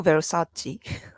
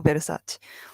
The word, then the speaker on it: Versace: Although I wasn't really sure it's pronounced as Versace in English because I mean Japan does that too, but sometimes English some changes European brand, the pronunciation of the European brand, right? And sometimes it's different from Japanese pronunciation and English, but seems like we call them Versace, Versace, Versace. A little bit different.